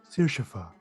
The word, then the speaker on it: Sirshafa: Sirshafa. That's a How do pretty you name. spell that? I can copy and paste it to you, but it's Irish with a fa on the end.